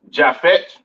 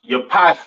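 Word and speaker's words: Japheth: East Indians all right next we have jaffet all right or japet some people like to call it right um pronounce Yap in Hebrew these are your so-called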